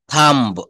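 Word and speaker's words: thumb: থাম্ব, এই বলা যাবে না, থাম, থাম মানে হচ্ছে হাতের বুড়ো আঙ্গুল।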